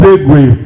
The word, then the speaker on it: segue: That's how it is uh pronounced. Segways stress the first syllable.